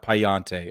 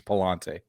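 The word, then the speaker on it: Pallante: did say it correctly it's not payante okay it's two L's it's Palante I played enough Assassin's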